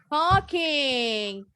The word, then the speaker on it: talking: Talking. The L is silent. L-nya nggak bunyi ya.